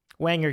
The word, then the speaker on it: Wanger: And so Wanger just happens to rhyme with banger.